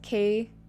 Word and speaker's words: kayfabe: That guy, K-Fabe, pronounced K-Fabby, or Fabe, K-Fabe, is basically the E in media lore, usually used to refer to a story in wrestling.